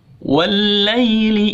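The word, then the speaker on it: والليل: Ayat yang kedua, wallaili idza saja. Wallaili, langsung masuk ke lam. Wallai, jadi i gitu, jangan wallai atau, jadi cara bacanya wallai idza, i nya pun harus jelas.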